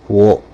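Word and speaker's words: を: Uh, so that one is wo. And often times, uh, when people use this character in speech, uh, they'll drop the the W sound at the beginning. So, you might hear it more as o.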